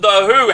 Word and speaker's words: The Hu: Rumble of Thunder and the who hates you hate you not w h u The Who I think that's how you pronounce it now Paul have you